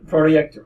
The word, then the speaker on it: Projekt: then someone from CD Projekt the same that's how it's pronounced project a bit then it